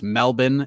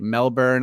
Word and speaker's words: Melbourne: It's pronounced Melbourne, a.k.a. Melbourne.